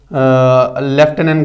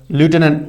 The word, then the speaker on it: lieutenant: Like लेफ्टिनेंट governor is British pronunciation and लेफ्टिनेंट governor is American pronunciation.